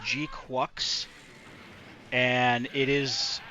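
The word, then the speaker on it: GQuuuuuuX: Uh, it is called it's it's spelled weird, but it's pronounced G Quucks.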